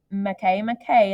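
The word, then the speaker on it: Makemake: belt we have a McKay McKay is how you pronounce that it looks like make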